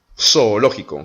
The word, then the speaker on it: zoológico: Donc, en espagnol, par exemple, on va dire le mot le zoo, on va dire zoológico, comme si c'était un S.